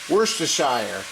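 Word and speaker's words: Worcestershire: have to say what it is wor AER worshire however you want to pronounce it no matter how I say it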